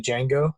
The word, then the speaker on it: Django: I want to watch Pulp Fiction, but I think the best one is the Django. Is that how you say it? Yeah, The Django Django Unchained?